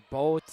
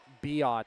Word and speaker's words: Biot: It was either Boat or Boot or whatever, but it is Biot, so the proper pronunciation